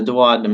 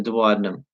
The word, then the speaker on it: duodenum: talked about that there yes very good the duodenum is how you say that the duodenum all right excellent good job so write that